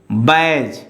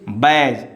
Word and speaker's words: badge: Now D letter, silent letter D before G. So here is badge. Here is badge. Don't say badge.